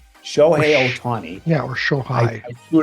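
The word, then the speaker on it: Shohei Ohtani: Shi Otani. Show Otani.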